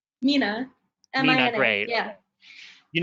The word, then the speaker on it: Mina: Okay, is it pronounced Mina or Minna? Mina.